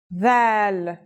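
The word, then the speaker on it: ذال: This letter's pronunciation is a voiced sound, the, as in this or that. It's pronounced with the tongue between the upper and the lower teeth.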